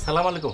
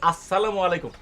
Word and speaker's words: আসসালামু আলাইকুম: হারিকে লাগায় খুজতেছি উচ্চারণটা সালামু আলাইকুম হবে না হবে আসসালামু আলাইকুম দেখলেন না এইযে ব্যাকরণের